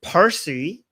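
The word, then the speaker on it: پارسی: And the Arabized version of the word Parsy is Farsy, right? So, Persian in Persian is parsy. But because the because the Arabs cannot say don't have the word p they turn pari into fary right so it's interesting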